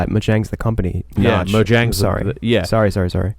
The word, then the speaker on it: Mojang: probably he's probably one of the wealthiest honestly majangs probably got more or however you say his